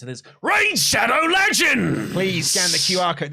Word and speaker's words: Raid Shadow Legends: The proper way to pronounce it is Raid Shadow Legends.